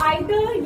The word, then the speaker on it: either: ठीक है, तो आइदर या नाइदर या ईदर या नीदर दोनों प्रोनाउंसिएशन करेक्ट है।